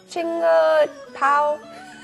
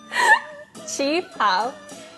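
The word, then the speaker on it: qipao: Chinga pao? Chi pao.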